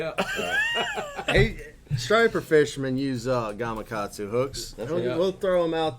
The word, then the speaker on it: Gamakatsu: in the deep south they don't call it gamakatsu they call it gakukatsu i promise you over my years i've you've